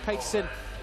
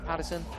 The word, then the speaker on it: Patterson: Interesting pronunciation of Peterson. Patterson, even. Sorry. Mr. Simon Patterson from MCM with 2 T's rather than 1, so I assumed it would be Peterson.